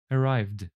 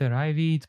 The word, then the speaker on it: arrived: regular past simple verbs the Ed ending is usually pronounced t or d for examp example booked arrived we only pronounce the e in Ed when there is a t or a d before it for example wanted ended and so on aha many of you can pronounce it like book it arrive it play it and so on you